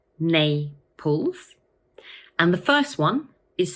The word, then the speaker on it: Naples: It has two syllables, Naples, and the first one is stressed. So we say Naples. Once more, Naples.